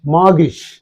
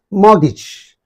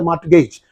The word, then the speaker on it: mortgage: letter that is T T is silent both in the British pronunciation and also in the American pronunciation okay you should know the pronunciation according to the Indian pronunciation is a Mart Gage you pronounce T Mart